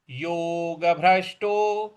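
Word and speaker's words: योगभ्रष्टो: सुचिना श्रीमतांगे सुचिना श्रीमतांगे योग भ्रष्टो योग योग देखिए ग के बाद जो भ है उस पर हमको बल देना है।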